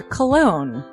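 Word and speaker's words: Colon: It is a self-published book by Christopher Cologne. Chris Cologne? Smells good to me. But Look at her. That broke that fucking cold little exterior. He's like, hee. But it is spelled C-O-L-O-N.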